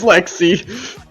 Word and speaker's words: Lexi: This is why her name is Lexi. Wait, why? it rhymes with sexy.